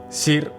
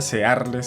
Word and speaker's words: Searle: filósofo llamado John Roger cir creo que de esa forma se pronuncia searles se escribe me imagino que se pronuncia así o ser igual yo le voy a